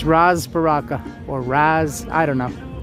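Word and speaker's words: Ras: last name is b-a-r-a-k-a Ross Baraka but it's pronounced Roz almost like Rosalind but it's Roz Baraka or Razz I don't know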